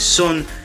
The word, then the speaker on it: Son: That's how you say his name, is Son.